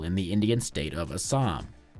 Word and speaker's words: Assam: You see, from 2004 to 2006, Elephant Osama killed at least 27 people in the Indian state of Assam. In India, they pronounce it Aham, but if I said it like that, you would all think I was clearing my throat.